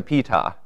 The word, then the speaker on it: Ptah: pharaohs, we get to Ptah. And note that I actually know that the P is pronounced because Wikipedia has these cool little pronunciation keys.